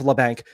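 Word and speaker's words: Labanc: I thought, yeah, no, it's Lebank. That's what Randy Han always pronounced it as.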